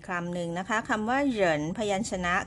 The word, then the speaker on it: 人: นิด นึง นะ คะ ตัว R นี้ นะ คะ ไม่ ออก เสียง รอ เรือ นะ คะ ไม่ ออก เหริน แต่ ออก เหยิน ออก เสียง เยอะ นะ คะ แต่ ว่า เรา จะ ต้อง กระดก ลิ้น นิด นึง เอา ลิ้น ไป แตะ บน เพดาน ปาก นะ คะ ออก ก่อน